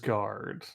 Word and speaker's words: Sarsgaard: Sarsgaard, not Skarsgård. Oh. Yes, this is. What's the difference really? I mean, a lot. In everything, I guess. Yeah. I like Peter Sarsgaard, but not in this movie.